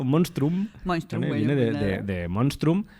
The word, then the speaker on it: monstrum: es complicado viene de monstrum estaba intentando hacer graciar veng se pronuncia casi como Castellano monstrum viene de monstrum e